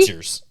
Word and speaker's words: Skechers: Skechers.